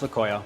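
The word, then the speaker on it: tlacoyo: It's pronounced laoyo because it starts with a tea that's kind of silent.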